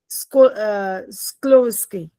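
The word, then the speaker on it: Skłodowska: मार मारी मारिया नहीं it's Mary स्क्लोवस्की डी is silent स्क्लोविस्की Polish language में बोलते हैं इसको हर प्लेस ऑफ़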